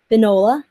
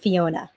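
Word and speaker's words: Fionnghuala: But anyway, so it's pronounced Fiona. It's in Gaelic pronounced Finola, but she pronounces it Fiona.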